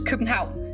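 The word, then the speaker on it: København: I also think the funniest thing is Copenhagen in Danish is kenha.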